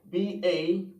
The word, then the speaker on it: ballot: Okay, your pronunciation may be correct, but the word is pronounced as ballot. Ballot. You see it? Ballot. Okay, so here A, letter A, shows realization for the short A sound.